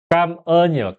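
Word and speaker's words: cảm ơn: 발음이 어 까언이요.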